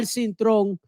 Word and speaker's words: Cintron: I'm talking about Al Cintron, but we're going to pronounce his name properly here. Al Cintron is here with us, of course.